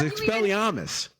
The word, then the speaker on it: Expelliarmus: Expelliarmus, but Armus? Yes. No, it's Armus. It's Expelliarmus.